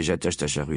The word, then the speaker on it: Ajatachatru: Fakir de son état, Ajatachatru Lavache, prononcé Jatacharu Lavache avait décidé de voyager incognito pour sa première venue en Europe.